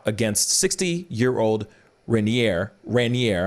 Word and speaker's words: Raniere: 60 year old rainier raniere i think is how it's pronounced and the devastating impact